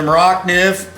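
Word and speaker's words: Morakniv: And then I've got the Maracniv, and most people call it Mora. This is a Swedish made knife because they're not maybe pronouncing it correctly, but it's the Maracniv.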